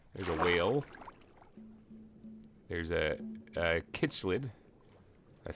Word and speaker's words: cichlid: There's a kitchlid. A cichlid? Cichlid, I think is how you pronounce it.